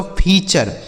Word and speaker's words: feature: FEATURE, तो FEA से हो गया दोस्तों फी, और TURE का उच्चारण क्या हो गया चर, यह लिखा गया दोस्तों फीचर।